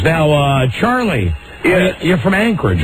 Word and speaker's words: Anchorage: And they said, no, it's not Anchorage, it's Anchorage. Anchorage. That's how locals pronounce it, Anchorage.